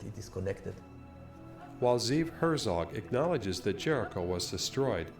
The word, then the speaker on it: Herzog: So, Herzog here, I'm going to use the German pronunciation of his name because it looks German.